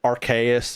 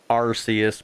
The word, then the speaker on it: Arceus: Yeah, we call it Arceus, and the reason for that is I feel like there's an actual justification to it.